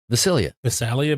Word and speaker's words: Visalia: It's Visalia.